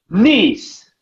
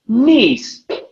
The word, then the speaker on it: knees: Look at Teacher Lou's mouth. Knees. You have to show me your teeth. Knees. Knees. Exactly. You have to open the mouth big, like a crocodile.